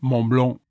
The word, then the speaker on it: Mont Blanc: French accents let's talk Mont Blanc did you know the French don't pronounce the c m Blanc why don't we let